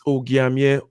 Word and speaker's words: Ogiamie: It's Ogiamie. The hard G part is the part to remember, and the rest just kind of flows with the.